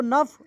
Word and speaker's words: snuff: सो नफ, यहाँ पे SNUF दिया है, इसको हम पढ़ते हैं नफ। लिखा तो जाता है सनफ, लेकिन पढ़ा जाता है नफ। इसका प्रोनाउंसिएशन जो है नफ होता है।